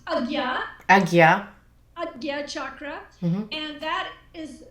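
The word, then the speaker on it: Ajna: Aya chakra A J na a which is pronounced Aya Aya chakra and that is uh translated in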